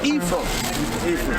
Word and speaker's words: Ephraim: Yeah, it's pronounced Ephraim.